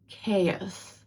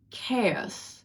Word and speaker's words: chaos: The next word, it means the absence of any kind of order and is pronounced as chaos. Chaos. So the ch in this word sounds like C, not ch, it's chaos.